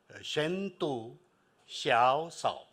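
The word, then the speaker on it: 深度求索: all learn how to say it in Chinese shentu Shia sa okay that is what deep seek is and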